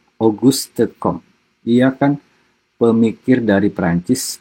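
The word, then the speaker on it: Auguste Comte: Augustom ya dibacanya bukan Augus Komte tapi Augustom.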